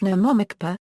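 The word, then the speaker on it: NOMOMECPA: A common mnemonic device for remembering the typical articles in bylaws is nomomicpa, pronounced nomomi, CPA.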